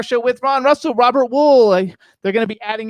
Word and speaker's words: Wuhl: to pronounce it actually it's pronounced my family always pronounced it a wall almost like the side of a building it is well okay so robert wall you guys all right